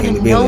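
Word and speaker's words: Halle Bailey: actually the way you pronounce her name, Haile Bailey. At least that's the way I looked it up.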